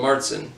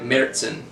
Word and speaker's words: Märzen: for using it basically if you do use the german that umlaut renders the first syllable something like the vowels and air like merzen so that's pretty cool